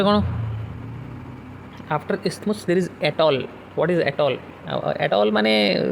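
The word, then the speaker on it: atoll: After isthmus there is एटॉल. What is एटॉल? एटॉल माने सीटा English रो एटॉल नहीं, एटोल यू can pronounce it like this.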